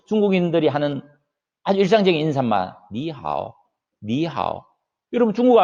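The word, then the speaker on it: 你好: 네, 실제 발음을 니하오 해서 이성으로 하지 성조 표기를 바꾸진 않아요.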